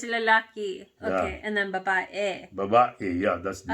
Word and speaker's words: babae: B-A-B-A-E. Girl. Which almost sounds like it's spelled like babe, but with a different with an A, an extra A in it.